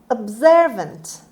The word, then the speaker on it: observant: report on urban affairs observant observant observant the stress is on the second syllable on z sound observant means quick to